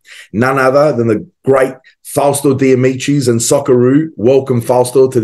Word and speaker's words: Fausto De Amicis: a fantastic individual none other than the great fosto damichi and sakuro welcome fast to this conversation Sasha